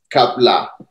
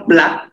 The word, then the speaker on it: KPLA: Et aujourd'hui, on a le privilège d'accueillir Kapla. Est-ce que j'ai bien prononcé? Alors, Brice, c'est plutôt Plat. C'est vrai que généralement, les Européens, tout le temps, c'est Kapla. Bon, écoute, je le fais finalement.